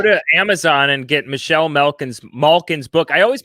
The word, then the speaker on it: Malkin: I pronounce it with like a short A, but it's Malkin. Yeah. And I've said M-A, like ma, instead of ma.